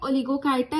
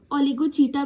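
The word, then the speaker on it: Oligochaeta: एक होती है ओलिगोकाइटा, एक होती है पॉलीकाइटा, एक हिरुडीनिया। ओलिगोचीटा भी बोलते हैं कुछ लोग इसको, और पॉलीचीटा, प्रोनाउंसिएशन में वैरी।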